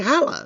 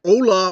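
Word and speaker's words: hola: why are you saying Hala like I'm saying hello and Spanish oh that c an argument I get the whole Spanish lesson there no it's Ola you don't pronounce the h in the words and words like with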